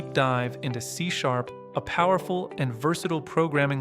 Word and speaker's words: C#: C pronounced C is a modern object-oriented and type-S safe programming language created by Microsoft in 2000 as part of the net initiative.